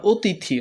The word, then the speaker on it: অতিথি: হ্যা কখনো অ এর উচ্চারণ কখনো কখনো ও এর মত হয়। এটা অতিথি।